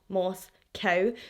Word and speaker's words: Moscow: here here in Scotland we pronounce the word Moscow as Moscow I know the residents of Moscow Idaho see it as Moss cow so I will try